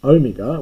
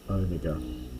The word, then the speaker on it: omega: you get a capital omega and that's an sound as in can be long as yeah sorry it's a long o as in home probably softening a little bit